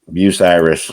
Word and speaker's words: Bucyrus: No, Bucyrus.